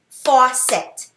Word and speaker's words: faucet: in it and it's a two-syllable word you ready the word is faucet clap it with me faucet faucet four set do